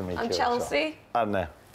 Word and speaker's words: Arne: Anna, this was the first thing I was actually going to ask you. Yeah, how to Being pronounce. A Liverpool fan, I got told it was similar to John Arnorisa.